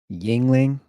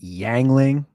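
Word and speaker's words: Yuengling: I drink Yingling, or as he called it, Yangling. He always pronounced it wrong. I don't know if that was on purpose or if he just couldn't pronounce it.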